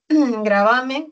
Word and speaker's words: gravamen: Gravamen tiene la mayor fuerza de voz. En va es grave, no se tilda.